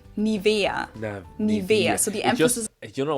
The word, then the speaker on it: Nivea: pronunciation pretty funny here English native speakers usually say Nivea Nivea in German we say niaa so the emph you